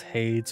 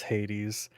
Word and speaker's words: Hades: win with games and whether it gets pronounced as Haze or Hades hopefully I'll remember that this game is saying it is Hades I probably won't I